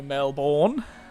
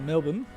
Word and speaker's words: Melbourne: But yeah, it's called a schwa, by the way. I think it's called a schwa, which is the sound where you kind of destroy the sound at the end instead of pronouncing it properly.